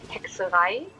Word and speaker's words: Hexerei: So it's actually Hexerei.